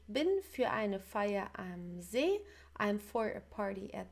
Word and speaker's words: See: So make sure the pronunciation is not that like the English sea, it's See in German, okay, See.